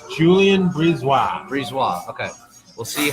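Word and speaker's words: BriseBois: it is it pronounced Brees wha the second B is silent it's Julian please wah breeze wah okay we'll see how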